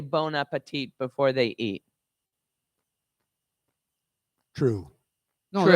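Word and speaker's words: bon appétit: Well, they don't say bon appetit because we don't pronounce the T at the end of bon appetit, but they do say bon appetit.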